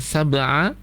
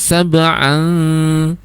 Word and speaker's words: سبعا: Misalnya tadi adalah di ayat itu Ibu membacanya sab'a, harus sab'an an, itu baru masuk di hidung.